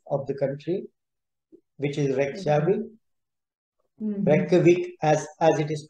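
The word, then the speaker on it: Reykjavík: around the capital of the country which is red Chevy as as it is pronounced is the pronunciation but the spelling is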